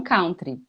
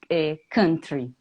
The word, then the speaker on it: country: E aí os Hum, alunos sempre falam country, country. ao invés de falar country, né? Uhum. E eu já falei isso em algumas vezes que eu apresentei e falei sobre a pronúncia, apesar de não fazer nasalização aqui, mas tentar fazer no som de cama, né?